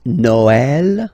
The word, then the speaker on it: Noël: The last one, tréma, well, basically it's quite rare, and the tricky thing is that in some cases you will have to pronounce it like E, okay? Like, for instance, Noël, okay?